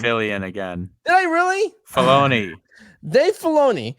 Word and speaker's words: Filoni: Fillion literally took the You said meme. Fillion again. Did I really? Filoni. Dave Filoni. Think of baloney when you say his name. Just say Filoni.